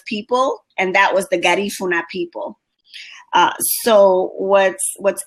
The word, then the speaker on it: Garifuna: pronouncing it properly Guna the accent is on the second syllable so um our people